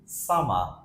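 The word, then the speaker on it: summer: নিব fast one ইজ সামা সামা আমরা আর সাউন্ডটাকে সাইলেন্ট করছি হোয়াই বিকজ কোন শব্দের শেষে যদি আর থাকে তাহলে ব্রিটিশরা আর এর উচ্চারণ করে না সো অ্যাপার্ট ফ্রম দ্যাট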